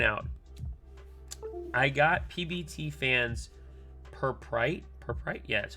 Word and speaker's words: Purpurite: Oh, I did want to point out, I got PBT fans Purprite. Yeah, that's how you say it. Purpurite.